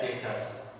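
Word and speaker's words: debtors: और डेब्टर actually डेब्टर नहीं होता है, इसको बोला जाता है डेटर्स। ठीक है, लेकिन हम लोग प्रोनाउंसिएशन इसलिए बोलते हैं ताकि बच्चा ना लिख पाए बढ़िया से। ठीक है, तो डेटर्स होता है लेकिन डेब्टर्स हम लोग बोल देते हैं।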